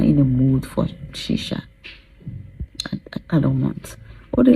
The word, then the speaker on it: shisha: I don't know how they pronounce that. It's shisha.